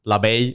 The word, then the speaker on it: Labay: an awesome conversation with ben labay i hope i said it right he said that i was saying it right but ben he is